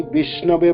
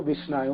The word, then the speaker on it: विष्णु: है मूर्ख व्यक्ति तो विषयो कहते हैं वि है ना और जो बुद्धिमान लोग है जो पढ़े लिखे लोग है वो वो विष्णु ब कहते हैं विष्णु भी कहते तो मूर्ख लोग ठीक से उच्चारण नहीं कर पाते बेचारा और उतना शास्त्र उतना जानते नहीं है तो उन्होंने विष्णु को विषय कह लेते हैं और जो बुद्धिमान